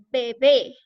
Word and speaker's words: bebé: Por ejemplo, tenemos la palabra bebé. ¿Cuál sería la sílaba tónica en bebé?